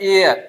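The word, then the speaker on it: heir: इसको आप हेयर पढ़ते होंगे। हेयर नहीं है। यह है एयर।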